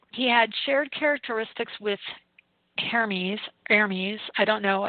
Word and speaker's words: Hermes: So he had shared characteristics with Hermes, I don't know. In the French, they pronounce it Hermes, but Hermes, Hermes, which is a Greek god.